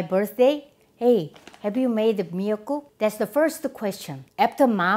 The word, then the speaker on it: 미역국: am going to make Seaweed soup It's called "miyeokguk" You know already there are many kinds of